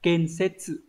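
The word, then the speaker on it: 建設: Số 1 đọc là ken-setsu.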